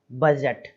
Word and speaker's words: budget: ही रहते होंगे, बजट, BUDGET, बजट, केवल इतना ही पढ़ना है, इससे ज़्यादा नहीं। डी जो है वो साइलेंट हो गया है इसमें भी हमारा।